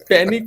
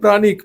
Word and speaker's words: প্রাণিক: আমি বললাম যে না এটা প্যানিক নয় এটা প্রাণিক প্রাণ থেকে কথাটা এসেছে প্রাণ থেকে প্রাণিক হিলিং এবার প্রাণ যেহেতু কথাটা